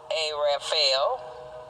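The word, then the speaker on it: ערפל: But then this Hebrew word pronounced Araphel, Raphael, means darkness, but it also adds that Raphael has a meaning that is something more than just darkness.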